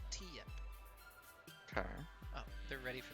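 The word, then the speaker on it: Tiyep: up how do you spell that um t-i-y-e-p pronounced t yep okay oh they're ready for the draft that's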